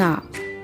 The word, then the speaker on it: hour: For example, he'll be back in an hour, because the H here is silent.